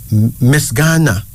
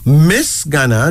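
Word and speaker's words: Misganna: Miss Ghana. Miss Ghana. Now, Miss Ghana, that's M-I-S-G-A-N-N-A, Miss Ghana.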